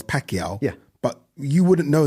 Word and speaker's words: Pacquiao: And obviously to see that we know Manny Pacquiao is Pacquiao.